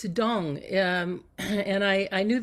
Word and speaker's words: Tung: to bring out oh the name dong it's dong um and I I knew this would happen